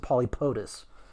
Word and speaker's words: Pauxtis: And I hesitate to say it's the official pronunciation because I firmly believe in letting people make their own decisions on stuff like that. But I would pronounce it Polypotus.